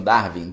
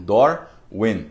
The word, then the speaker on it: Darwin: Como eles pronunciam Darwin, Darwin, né? O Dar, eles falam Dor, e o Vin, que a gente fala Darwin, eles falam Win, porque em inglês o W tem som de U, né?